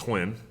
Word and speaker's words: Nguyen: It's spelled differently, but it's pronounced "win".